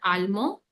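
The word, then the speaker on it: allemand: In case of like masculine, we never pronounce D.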